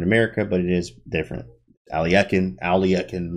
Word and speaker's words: Alekhine: But you will be today we're looking at Alekhine's gun, and Alekhine, right?